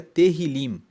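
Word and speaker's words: Tehilim: salmos de Davi Salmos no hebraico se pronuncia teril teril se escreve com t e h i l i m e significa louvores os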